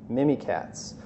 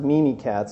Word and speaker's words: Mimikatz: this as well so mini cats if you're if you've never heard of this actually I think it's pronounced meanie cats I've been saying mini cats I think that's wrong but you can find